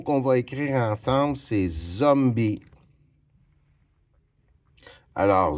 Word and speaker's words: zombie: Le premier mot qu'on va écrire ensemble, c'est zombie. Alors, Z, j'ai besoin de la lettre Z. H hom zom b zombie il y a un e à la fin qui est muet zombie.